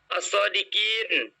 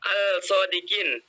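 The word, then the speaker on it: الصادقين: Misalnya, as-sodiqina, as-sodiqin. Bukan dibaca al-sodiqin, tapi as-sodiqin. Kemudian, at-tariq.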